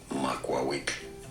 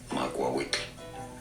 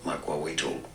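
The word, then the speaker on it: macuahuitl: Makwawik is how it is said. It's easy. Makwawik. In English it is often pronounced as Makwawitl, but...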